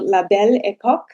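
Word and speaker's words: Belle Époque: because I am terrible at pronouncing French. Yes. A new era called Label Eco in 1871.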